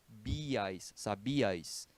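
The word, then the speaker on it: sabías: pronuncia-se em sílabas diferentes sabias são três sílabas e não duas tá imediato esses encontros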